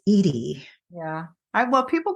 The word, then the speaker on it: Edie: Edy with one D it's not Eddie I remember you telling me that that somebody said they still yeah they still to this day even if I even though I have my name phonetically spelled they'll still say hi Eddie no that's Edy yeah well people call